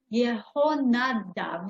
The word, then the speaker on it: Yehonadav: Look, in the book of Jeremiah, it is mentioned that Yehonadav, okay, that's the Hebrew pronunciation, son of Rechav, ordered his descendants not to drink wine, and this commandment has been kept.